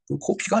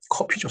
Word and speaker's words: 커피: 코피가 아니죠. 커피죠, 사실은. COFFE는 커피예요, 커피. 근데 코피는 아니에요. 어하고 어하고는 발음이 다르죠.